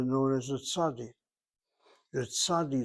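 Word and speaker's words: צדי: It's not called a sadic. It's called a sadi. The T S, the A, the D, and the I.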